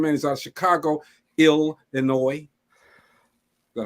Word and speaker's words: Illinois: he's out of Chicago Illinois but how do you say Illinois something like that in the world did not pronounce that s oh they get mad